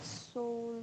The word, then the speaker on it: seule: La E y la U es una vocal compuesta igual y se pronuncia como E, como una E fermée, más o menos. E, seul. D'accord.